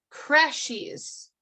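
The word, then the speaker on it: crèche: to my dictionary app i'm gonna type it in c r e c h e okay it's french crashes crashes sometimes it'll play a pronunciation crash crash crash crash crash okay so this so singular is crash plural must be crashes okay that makes sense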